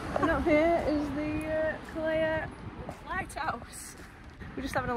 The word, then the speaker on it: Calella: Say it as Calella because two L's in Spanish means a Y. You pronounce it as a Y, so it's Calella.